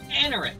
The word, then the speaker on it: Anorith: Anorith, that's how you pronounce it. Okay. Your experience of art literally didn't even budge. Anorith, you're dead.